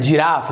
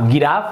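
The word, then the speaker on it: giraffe: लिखा हुआ है जिराफ, जी के बाद आई है तो ये हो रहा है जिराफ, गिराफ नहीं हो रहा है,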